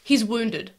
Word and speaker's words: wound: I did pronounce wound as wound for a long time. Oh, it's like wind and wind.